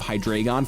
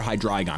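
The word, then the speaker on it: Hydreigon: is filled with hydragon which you guys have corrected me on the pronunciation and I'm sorry I have to undo like 15 years of hydragon for hydragon I will do my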